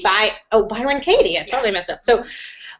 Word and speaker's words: Byron Katie: Brian Kate Byron Kate Byron K by oh Byron Katie I totally messed up so um I found